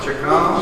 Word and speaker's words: Chacon: Chacon. Chacon. Got it. You actually said the correct Italian pronunciation.